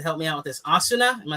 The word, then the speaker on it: Asuna: Asuna, am I saying it right? Asuna. Yeah. Asuna.